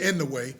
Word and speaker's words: Inoue: Is that how you pronounce it? Inoue. He Some people can- say in the way, but Yeah, right. in a way.